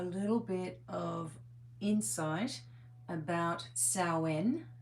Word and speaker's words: Samhain: Now we are going to get a little bit of insight about Sen or Sam Hayne as it's spelled S A M H A I N which really is the uh more traditional I guess older type of celebration.